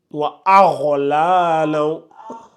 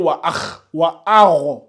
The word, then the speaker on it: وأغلالا: En fait, faut pas lire wa agh. En fait, si tu dis wa agh, c'est comme si c'est le kha. C'est comme si tu mettais un kha comme ça.